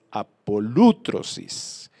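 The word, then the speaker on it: ἀπολύτρωσις: paul otros is bueno el acento viene en la aula pronuncie mal es apolo tro sis significa librar o librarse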